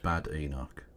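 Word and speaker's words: Badenoch: It's pronounced Bad Enoch.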